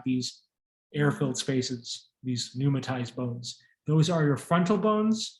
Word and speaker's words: pneumatized: inside of a space the term for this is pneumatized p-n-e-u is silent p-n-e-u means error in